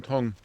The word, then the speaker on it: Tong: Now we've got to go to Bertram Tong. Tong, kind of like lung, not tongue, as in the thing in your mouth.